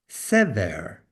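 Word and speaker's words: שׂבר: meaning corn or grain, can also be pronounced as sever, as opposed to shever, as sever, and that is the noun meaning hope.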